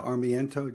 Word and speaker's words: Armiento: Stacy just mentioned the armiento just think of Army and your big toe I put a couple